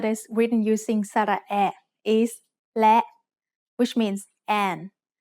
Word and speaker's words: และ: written using สระแอะ is และ which means and. และ is a high tone because it has an initial low-class consonant with a short vowel and a dead stop.